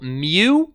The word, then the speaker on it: mu: little symbol here is the Greek symbol mu and kind of pronounced like what a cat might say and you also